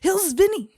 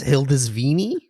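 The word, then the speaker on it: Hildisvíni: saying his name because I want to say it like it's a magic trick Hills Vinnie I got no no just you win pronunciations I'd say like a it's a box I don't know when it opens what it's gonna say when it comes out um I think it's hildesvini and I'm pretty sure I'm right yeah I'm pretty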